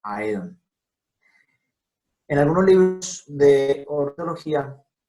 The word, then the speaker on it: Aedon: Entonces no sería Edon, sino Aedon.